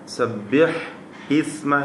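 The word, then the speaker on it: سَبِّحِ اسْمَ: സബ്ബിഹ് ഇസ്മ എന്നായിരുന്നു. വസ്ലിൻ്റെ ഹംസയുടെ നിയമം നാം സൂചിപ്പിച്ച് കഴിഞ്ഞതാണ്. ചേർത്ത് വായിക്കുമ്പോൾ വസ്ലിൻ്റെ ഹംസ ഉച്ചാരണത്തിൽ നിന്നും കളയപ്പെടും എന്നത്.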